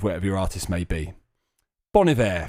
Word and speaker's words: Bon Iver: your artist may be bonivere for example is not bolivare apparently so c major